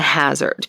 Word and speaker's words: Hassard: I can safely say it was pronounced a hazard because I think people back then spelled phonetically right A lot of